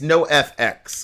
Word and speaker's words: NOFX: it no FX or how do you pronounce this it's no FX no FX and the song is